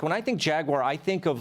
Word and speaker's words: Jaguar: of all I applaud you for it correct pronunciation jaguar and I hear people say jaguar or jagu or Jaguar wire it's just say